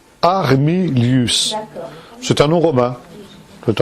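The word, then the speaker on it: Armilus: Armilius, comme ça se prononce. Armilius.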